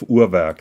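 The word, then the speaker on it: Urwerk: a big fan of urak that is B basically the way that they pronounce it so you've been discussing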